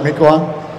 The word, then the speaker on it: Mequon: You guys know how to pronounce that, right, Mequon?